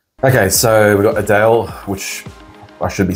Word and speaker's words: Adele: Okay so we've got Adele which I should be saying her actual name is Adele that's how it's pronounced but everyone knows about